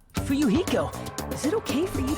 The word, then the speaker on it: Fuyuhiko: My first name is pronounced Fuyuhiko. Fuyuhiko.